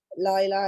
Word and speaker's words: Laila: Like when I say my name is Laila and people go, oh, Layla, and I go, Laila, and I say it again and again, and they go, oh,